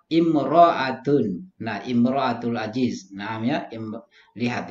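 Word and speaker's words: امرأة: Jika ditulis sebagai almarah tanpa alif lam, tanpa alif atau alif lam di awal, lalu bagaimana cara membacanya? Imra'atun.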